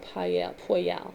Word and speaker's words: Poyel: So this angel's name is called Poyal, and it's spelled Poyel.